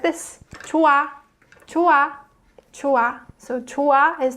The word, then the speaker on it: 좋아: 좋아, 좋아, 좋아. So 좋아 is the present tense of 좋다. So this one is pronounced 좋다, and this one is pronounced 좋아.